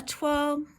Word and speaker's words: toile: So a toile is a weird word because it's not really, well, it's a French word, first of all. So there's no English equivalent to the sound, the toile sound. So toile is spelt T-O-I-L-E. So it doesn't, in any other English words, that O-I sound doesn't make the same sound.